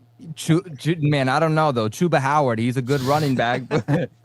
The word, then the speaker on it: Chuba Hubbard: I was like, man, is that how you pronounce his name? Chuba Howard.